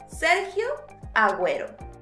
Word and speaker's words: Agüero: and G when the vowel U must be pronounced in Spanish. So let's say it again. Sergio Agüero.